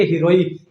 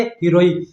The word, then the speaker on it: सिरोही: जैसे आपका जो क्षेत्र है सिरोही, सिरोही को क्या बोलेंगे? हिरोई। क्या बोलेंगे? हिरोई। तो इसका स का उच्चारण आपका जो है स का उच्चारण किस में किया जाता है? है में।